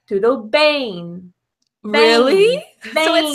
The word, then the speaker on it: bem: So if we look at your position of your mouth, right, you go BEM, because in English, M, we close our mouth. Mm. However, my dear friend, in Portuguese, it's tudo bem.